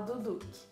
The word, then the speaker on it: Duduch: Eu acho que se fala Duduque.